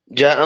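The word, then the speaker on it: جاء: അപ്പോൾ അവിടെ ജാഅ എന്നല്ല പറയേണ്ടത്, അല്പം കൂടുതലായി നീട്ടണം. ജാഅ, ഇദാ ജാഅ നസ്റുല്ലാഹി, ഇദാ ജാഅ നസ്റുല്ലാഹി എന്ന് ഓതരുത്. ഇദാ ജാഅ നസ്റുല്ലാഹി എന്നല്ല ഓതേണ്ടത്. ഇദാ എന്നതിൽ ഒരു അലിഫ് നീട്ടണമല്ലോ, അതിനേക്കാളൊക്കെ കൂടുതലായിട്ട് എവിടെ നീട്ടണം? ജാഅയിൽ നീട്ടണം. ശ്രദ്ധിക്ക്, ഇദാ ജാഅ നസ്റുല്ലാഹി യശാഉ, യശാഉ എന്നല്ല, യശാഉ.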